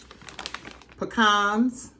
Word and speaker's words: pecans: I'm going to use cherries, real lemon juice, pecans, or pecans, some people pronounce, and Cool Whip.